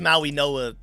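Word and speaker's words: Mauigoa: It's pronounced Maui Noah. That That's just how it is. Maui Noah.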